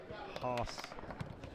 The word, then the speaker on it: Haas: It's like it's like in the throat a little bit pronounced.